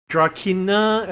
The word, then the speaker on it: Drakina: Well, I guess if it's just a small little hearing, then okay, I mean, you probably only need like Drakina apparently is how you actually pronounce the name.